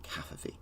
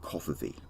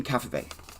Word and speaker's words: Cavafy: alexandrian greek poet called constantine cafe i think i pronounced that last name right it's not coffee like that stupid word that donald trump once uh tweeted out constantine cafe i didn't really know